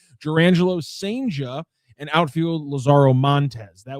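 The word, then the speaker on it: Cijntje: Sanja Sanja excuse me that's how we're pronouncing the last name Derangelo Sanja and outfielder Lazaro Montes.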